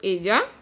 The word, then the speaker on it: ella: Double L is pronounced J. In Spanish it is pronounced ella.